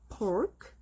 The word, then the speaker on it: pork: 그다음에 돼지고기는 어 살짝 말하긴 했는데 아 피발음이 어이 피발음을 할 때는 입술을 요렇게 붙였다가 떼면 돼요.